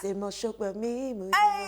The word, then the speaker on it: Mos-Shogbamimu: Say my name, say Mos-Shogbamimu, Shola's around you.